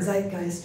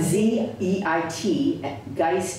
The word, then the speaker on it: zeitgeist: I know the technical definition of the word Zeitgeist or not um yeah I didn't have a spell it's okay yeah I mean I I find